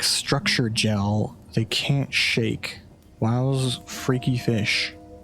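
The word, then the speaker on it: Wau: Wow's freaky fish. So that's a W-A-U. They pronounce it wow in this game.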